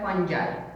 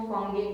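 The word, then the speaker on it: fungi: इसके बहुत सारे अलग अलग एक तो प्रोनाउंसिएशन अवेलेबल है। ओरिजिनल प्रोनाउंसिएशन इसका है फंजाई, ठीक है। हम कैजुअल लैंग्वेज में इसको फंगी बोलते हैं, लेकिन ये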